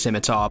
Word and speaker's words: scimitar: And I know it's pronounced scimitar, but I don't know, pronouncing the C just kind of feels good to me, so I'm going to be calling it a scimitar.